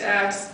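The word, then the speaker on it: Acks: I forget how your last name is spelled. A-C-K-S. So I am Axe, and while I understand that WSFS is a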